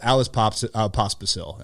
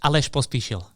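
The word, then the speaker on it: Aleš Pospíšil: But Alice Pospisil, am I pronouncing that correctly? Yeah, almost. Aleš Pospisil.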